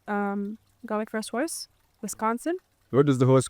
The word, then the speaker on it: Wisconsin: Um, when I was 18, I think, um, got my first horse, Wisconsin. What was the horse called? Her name is Eagles Wisconsin. Eagles Wisconsin. She was nicknamed Westy. Okay. Eagles Wisconsin. Wisconsin becomes Westy in um so we got her